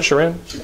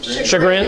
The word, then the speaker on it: chagrin: To Shem's Sherin, is that how you pronounce it, Sherin? Chagrin. Chagrin, okay, I thought so.